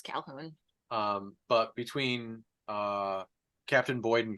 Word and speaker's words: Calhoun: It's spelled weird, but it's Calhoun.